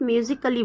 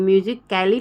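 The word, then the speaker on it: musically: ए एल एल वाई मैंने बोला था ना एल एल वाई आए तो ए साइलेंट हो जाता है हम इसको सिर्फ म्यूजिकली बोल सकते हैं म्यूजिक कैली नहीं बोल सकते मुजिक कली काली नहीं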